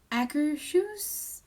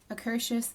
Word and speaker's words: Akershus: and we're looking at a cur shoes i believe is how it's pronounced at UH Epcot accra shoes akershus something like that it's Norwegian and it's a princess meal